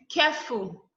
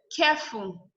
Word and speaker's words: careful: Careful. Careful. Adjective. The care is the one that is stressed.